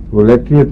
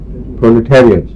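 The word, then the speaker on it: proletariat: پرولیٹیریٹ ہے لفظ، تو اگر پہلی کیسز میں کوئی سنے تو اس کی اصلاح کر لے. پرولیٹریٹ نہیں ہے، پرولیٹیریٹ.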